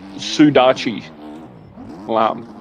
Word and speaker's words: sudachi: And it's pronounced Sudachi lime.